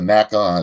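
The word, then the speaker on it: NECA: I always spell it Nika. Naka. It depends on who you ask.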